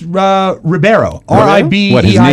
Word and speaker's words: Ribeiro: bad news for Alfonso Ribeiro Rivera right no it's Ribeiro or IB what he